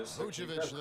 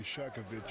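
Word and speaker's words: Vučević: Well, first of all, they call me Shakovic. You said his name wrong. It's Vucevic.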